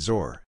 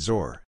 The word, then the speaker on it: XOR: is right this way I've always pronounced it zor well in my head I pronounced it zor I've actually never had